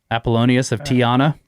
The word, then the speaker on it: Apollonius of Tyana: Apollonius of Tyana.